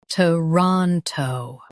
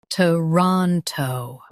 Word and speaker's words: Toronto: Toronto. Stress ron and keep t and toe light.